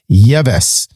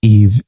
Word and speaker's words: Yves: I would have pronounced it Yves. But I learned when we hung out a couple weeks ago that in Utah, that his name's Yves.